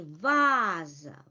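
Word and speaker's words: ваза: Well, under the stress, we may say vaza, vaza. A is in stressed position.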